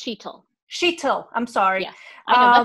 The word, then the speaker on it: Sheetal: my name is just my name is pronounced sheetl sheeto i'm sorry yeah